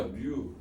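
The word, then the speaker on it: μ: 뮤 그리스 문자 뮤 네가 그렇게 안 들린다고 해서 좀 더 정확한 발음을 해서 뮤.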